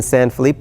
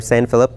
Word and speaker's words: San Felipe: Now, even those are in San Felipe or San Philip, depending on which way you prefer to pronounce it.